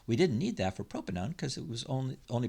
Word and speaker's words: propanone: becomes propanone so o-n-e it's pronounced own not one so propanone common name is acetone